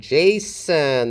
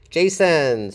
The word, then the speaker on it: Jason: It starts with an affricate, a voiced affricate, and Jason. The stress is on the first syllable. Jason. So the second syllable is unstressed, and we have a schwa there.